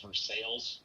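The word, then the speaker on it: Versailles: since i grew up in that area it's pronounced for sales i know it sounds like for stocks and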